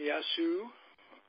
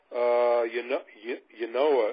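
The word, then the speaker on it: Ynoa: Got some nice innings out of a kid they called up named Yasu. Am I pronouncing that correctly? The guy that they pitched in relief? Yeah. Yanoa is his name.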